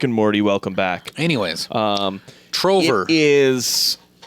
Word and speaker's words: Trover: trover saves the universe you mean Trevor no trover but it's spelled the